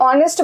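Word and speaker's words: honest: अब ऑनेस्ट बोलते हैं। ऑनेस्ट तो नहीं बोलते हैं तो अ मतलब वोवेल का प्रोनाउंसिएशन हो रहा है। तो यहां पे हो जाएगा एन।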